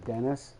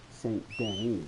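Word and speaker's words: Saint Denis: some people say say dennis some people say you say saint danny so whichever way you say it you know everybody says things differently let's see so i'm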